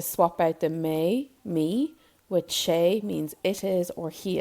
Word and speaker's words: sé: And then to swap out the me, with shay means it is or he is cold.